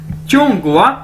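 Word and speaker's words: 中国: ठीक है, चूंग गोवा, इसे कैसे बोलेंगे, चूंग गोवा, चूंग गोवा, चूंग गोवा, चूंग गोवा, चूंग गोवा यानी चाइना।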